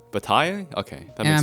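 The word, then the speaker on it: Bataille: George B French B Bai okay that makes I'm pretty sure the L I don't know what letters are okay and the E are also not pronounced probably not I don't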